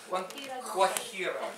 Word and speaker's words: Guajira: So the chorus goes, Guantanamera, Guajira, Guantanamera. If you see a J in Spanish, it's pronounced H, right? Guajira, right? The vowel that follows. Yeah. But here it's Guajira, right?